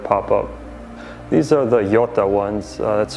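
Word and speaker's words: Jota: the eyelashes that pop up these are the yota ones that's spelled j-o-t-a bob wallace who was the test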